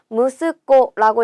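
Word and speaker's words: 息子: 아들이라는 단어도 체크해 주세요. 무스코라고 읽고요. 얘는요. 무스 좀 특별하게 읽는 애예요.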